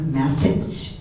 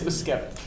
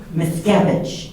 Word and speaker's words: Muszkiewicz: I would like to thank our panelists, Mayor Emily Dean, Representative Luke Masich. Did I say it right? No. I got you. You nailed it during practice. I know. It's Miscavige. Miscavige.